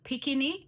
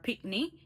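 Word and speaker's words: pickney: But some people pronounce, some Jamaicans pronounce this word as pikini and some say picnic. It just all depends on where in Jamaica you're from. That's how you're gonna pronounce it. But whether you hear pikini or picnic, it's basically the same. It's the same word, but people just pronounce it different.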